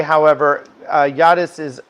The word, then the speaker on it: Jadis: Um, I do want to say, however, uh, Yadis is spelled J A D I S. I pronounce it the J as a Y cuz most languages, not really English, pronounces it that way.